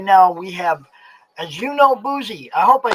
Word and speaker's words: Adjanu Bouzi: How do you actually pronounce it? So it's Adjanu Bouzi. Adjanu Bouzi.